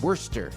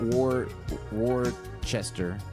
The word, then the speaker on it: Worcester: kind of like it's it's not uh it's worcester it's not war war chester there's a lot of